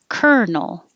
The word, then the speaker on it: colonel: hear what they say colonel this has got to be one of the most strange differences between what it looks like and what it sounds like kernel and the only time